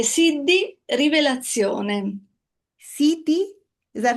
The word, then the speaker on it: Siddhi: Siti, is that how you say it? Yeah, Say it again. Siddhi, Revelazione.